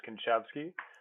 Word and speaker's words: Kinczewski: Well, the correct pronunciation, which I got wrong for 27 years, is Kinczewski. Good old Polish surname, and in accordance with that, I'm from the Chicagoland area, Evanston, Illinois.